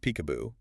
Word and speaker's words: PCAOB: Which is often pronounced peekab-boo, but its role is deadly serious.